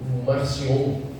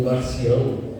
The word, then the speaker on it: Marcion: Então você vai ter desde um Marcion, ou Marcião, ou Marcion, né? A pronúncia vai variando de acordo com o autor, que era alguém que manifestava completo antissemitismo.